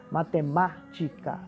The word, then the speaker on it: matemática: A sílaba antepenúltima mais forte. Então, matemática, mática, tá vendo aí?